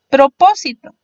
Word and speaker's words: propósito: Otro podría ser propósito. Propósito tiene en este caso 4 sílabas, sin embargo su sílaba fuerte sería po, es decir, la antepenúltima contando de atrás hacia adelante. Llevará tilde en la O.